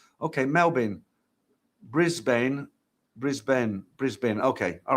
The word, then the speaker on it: Melbourne: Melbourne pronounced Melbourne. Oh, is it? I always thought it was Melbourne. Okay, Melbourne.